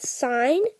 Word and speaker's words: sin: part tells us that sign now it's spelled sin but say sign because that's just an abbreviation sin x is equal